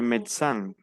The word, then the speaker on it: médecin: Le médecin. No pronunciamos la E del medio. Le médecin.